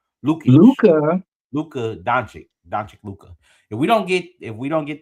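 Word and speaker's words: Luka Dončić: If we don't get Austin Reeves and Luke, I always say his name wrong. Lukic, Luca. Luka Doncic Luka.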